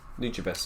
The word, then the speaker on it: Nujabes: it it's yeah so how'd you say his name nujabes need your best okay that's what it was yeah so um yeah